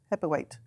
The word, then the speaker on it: Hebblethwaite: The chief executive, Pete Hebblethwaite, Heavyweight. Is that what I pronounced it right? Yeah, it is Heavyweight.